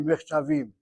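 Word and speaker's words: מכתבים: The only thing I would make a comment about is hit the last syllable. You read it as Haim Kotvim Michtavim. Should be Michtavim.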